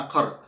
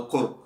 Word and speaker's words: قرء: القروء جمع قرء أو قرء، تنطق بفتح القاف أو بضم القاف، قرء أو قرء.